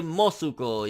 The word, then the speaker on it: Mosuko: Then we got Universe 3, Mosco, or Mosuko, and I would say Mosuko, yeah. Pretty much the way the second translation, in the bubble is how it's actually pronounced.